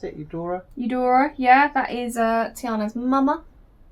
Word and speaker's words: Eudora: How do you pronounce it? Eudora? Eudora, yeah, that is Tiana's mama.